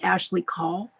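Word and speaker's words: Ashlee Caul: and Dan Clifford and I apologize if I mispronounced your name okay so Ashley call hi my name is Ashley call a-s-h-l-e-e c a u l thank you for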